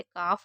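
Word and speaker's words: calf: जैसे काफ हो गया, यॉक हो गया, टॉक हो गया, चौक हो गया, किसी में एल को नहीं पढ़ रहे।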